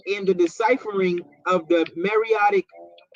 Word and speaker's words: Meroitic: It's Meroic. It's Meroic. We can do it right. Pronunciation. You're about to beat this nigga. Hey, look. Hey, X. You're Black Union. It's Meroitic. It's Meroitic.